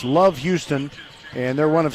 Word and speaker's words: LOVB Houston: The B is silent. It's Love Houston, and they're one of